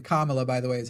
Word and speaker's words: Kamala: As you were saying, Kamala, by the way, is how you say it's not just that.